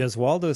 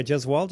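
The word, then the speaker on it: Gesualdo: Uh the Gasaldo 6 in concert. Did I pronounce that correct? The Jewaldo 6. Yeah. Jezwaldo is the name of a an Italian Renaissance era composer.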